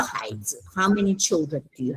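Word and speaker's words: 孩子: 孩子 When you do a neutral tone, you put the emphasis on the first syllable.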